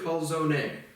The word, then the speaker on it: calzone: So now we have a Puerto Rican teaching me Italian, and I speak both, and it's just like definitely calzone. But again, you pronounce an Italian last name correctly, my goodness,